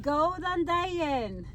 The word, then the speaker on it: Góðan daginn: Góðan daginn. Golden Diet. Yay! Sounds like Góðan daginn. Go diet.